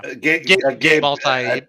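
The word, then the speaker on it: Gabe Eltaeb: Gabe Altaib. That's how you pronounce that.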